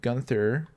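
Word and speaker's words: Guenther: go gunther um the i believe the e is silent gunther um so that's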